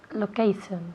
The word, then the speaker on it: location: Location. Okay, good. Repeat. Location. Location. Location. Okay, good. Location. Again. Location. Okay, very good. Location. Location. Esa T-I-O-N al final se pronuncia location.